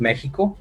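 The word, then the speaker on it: México: Actually, Mexico is pronounced Mexico in Spanish, okay, with Mexico.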